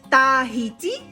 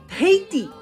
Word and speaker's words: Tahiti: So we say Tah-hee-tee, Tah-hee-tee, which is the written pronunciation. Or if you want to sound very much like the locals, you can say Ttt-hey-tee, Ttt-hey-tee, right?